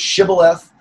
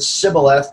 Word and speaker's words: shibboleth: I mean, not only is this the case with the word shibboleth, that is, if you pronounced it sibboleth, it wasn't going to end well for you.